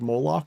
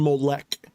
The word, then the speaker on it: Molech: So it's actually Molech. Molech. It's pronounced more like Molech.